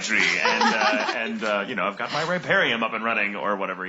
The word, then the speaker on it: riparium: Riparium with an I. I'm like, we've been saying rape a lot. Riparium. That's very different. That's a very different hobby.